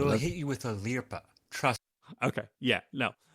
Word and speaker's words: lirpa: They will hit you with a lirpa. Trust. Okay, yeah, no. A slight correction there because the pronunciation is lirpa.